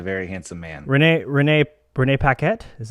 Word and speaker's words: Renee Paquette: it he's a very handsome man renee renee renee paquette is how you say her name very lucky